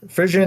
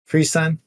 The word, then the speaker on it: frisson: uh my name visual frisan I say which is probably wrong because it's a completely different word it's actually FR son or freeon oh damn journeyman is always has to tell me the exact pronunciation because it's French but it just means